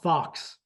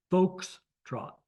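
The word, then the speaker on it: Foxtrot: Folks, not Fox. Folks trot.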